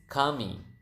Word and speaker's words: kami: do you say we we is Kami Kam me okay how do you